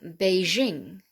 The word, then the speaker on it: Beijing: words we borrowed from other languages for example beijing the old peking remember the the beijing used to be called peking all right so beijing bijoux which is very french bijou deja vu